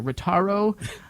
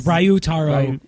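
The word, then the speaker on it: Ryutaro: The video shows, excuse my pronunciation here, Ritaro Nanumura. Would you say it like that? I think that's pretty close. I think it's Ryu Taro. Yeah, you have to enunciate all the vowels. Yeah, it's Ryu Taro.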